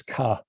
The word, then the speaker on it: ka: That tells us that they pronounced the word for the number 2 as ka.